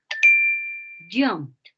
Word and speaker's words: jumped: Because the last one is P, you pronounce like a T.